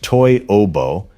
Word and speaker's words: Toyobo: Toyobo, pronounced Toyobo, in Japan started joint